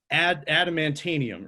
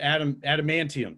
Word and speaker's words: adamantium: of this so it's going to be ad adamantanium or adam adamantium that's what it is so i'm yeah i'll